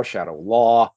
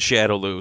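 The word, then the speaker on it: Shadaloo: Hey, to be fair, there's a whole bunch of different pronunciations that I've seen, be Shadow Lu, Shadow Lao, Shadow Law, so whatever. Whenever I'm in doubt, I default to whatever Raul Julia has said. And he said Shadow Lu, so I consider Shadow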